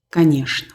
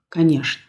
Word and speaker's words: конечно: Мы обычно говорим «конечно». Произносим «конечно».